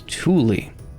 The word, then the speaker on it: Tuli: This is Tuli. And yes, that is how you pronounce that. Tuli is the plant thatch is made of.